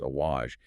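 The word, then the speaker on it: عَوَج: When the root word has a fatha, which is a vowel mark placed on top of the letter, making it pronounced awaj, it refers to physical crookedness.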